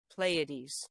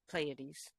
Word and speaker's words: Pleiades: Can you bind the sweet influences of the Pleiades? How do you say it now? But it's the seven sisters, those stars. Pleiades. That's it. Pleiades.